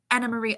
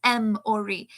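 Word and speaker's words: Emory: know that was amazing anna marie oh no no no no it's not anna marie it's m it's m ori e m o r y the main character is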